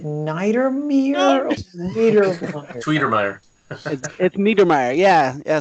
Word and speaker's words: Niedermeyer: is it night or me tweeter Mayer meteor Mayer yeah so it rhymes with tweet tweet or Meyer is